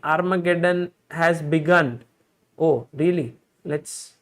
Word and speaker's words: Armageddon: was armageddon done okay you have to say done at the end not dawn so the game between